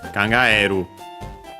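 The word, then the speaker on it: 考える: But yeah, in other verbs including this one uh we have uh uh the accent on the usual spot. So yeah, it doesn't become uh a diphthong. So yeah, on the e kangaeru.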